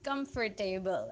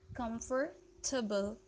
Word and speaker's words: comfortable: how you pronounce it comfort table right comfort table actually the sound the last sound would not be able this is a bull a bull yes comfortable comfortable comfortable able sound